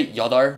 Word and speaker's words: 여덟: together and you'll get y'all are to be honest people don't really pronounce the P up in the second letter when pronouncing so I guess that's kind of an exception they say y'all are not final example because